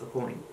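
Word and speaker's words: Aucoin: and I don't think he pronounced his name when he was growing up it wasn't a quan it actually was a coin something like that this is the perfect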